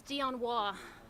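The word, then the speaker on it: Dionne Waugh: everybody ready to go okay my name is dion wah i'm the public information officer for the city of boulder police department that's spelled d-i-o-n-n-e-w-a-u-g-h we want the public to know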